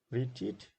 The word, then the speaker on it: retreat: So number one, retreat. Retreat. So there are retreat, two syllables, and the second syllable is stressed.